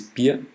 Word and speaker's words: Bier: Actually, beer is very important to know, but it's pronounced exactly the same even though you write it differently. So beer is Bier.